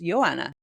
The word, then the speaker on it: Joanna: she says no no in Poland it's pronounced Yanna yeah I was like no way blew my mind but she's just so used to all of us pronouncing IT Joanna that she just let